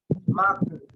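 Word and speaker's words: マーク: Yung pagka-pronounce niya sa Japanese, malalaman namin na yung pag-pronounce niya is Maku. Mak? Oh, Maku. Yung Mark, hindi na yung Mark.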